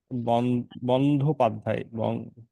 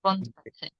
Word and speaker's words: বন্দ্যোপাধ্যায়: যে প্রথমটা অল্প প্রাণের দ, পরেরটি মহাপ্রাণের ধ। জি জি বন্দ্যোপাধ্যায়। জি বন্দ্যোপাধ্যায় একটু ভুল হচ্ছে ম্যাডাম, মানে বাসায় হ্যাঁ, প্র্যাকটিস একটু আবার কম বলুন দেখি করতেছি।